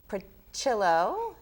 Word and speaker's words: Prochilo: Today, my guest is Joe Prochilo. Yes? Yes. Am I correctly are.